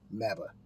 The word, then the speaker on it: MABAH: MABAH. Rhymes with MAGA, only a lot better.